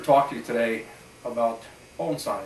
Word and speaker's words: bonsai: to you today about bonai it's a a Horticultural art that came from the Far East bonai pronounced bone as in the bone in your arm and sigh as in a nice deep sigh originally started in China